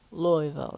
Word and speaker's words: Louisville: so we were in I think Louisville Louisville Louisville that's how you say it Louisville Louisville Kentucky